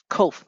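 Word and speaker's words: קוף: is hope hope hope qof cope and it has the same pronunciation as King the but the transliteration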